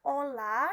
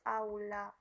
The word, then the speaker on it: aula: dibaca auditorium kesalahan eh pengucapan Ola yang sebenarnya harus Aula kesalahan pengucapan optopsi yang